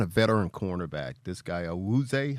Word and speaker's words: Awuzie: This guy Awuzie. How do you pronounce that, Pat? Awuzie. Awuzie.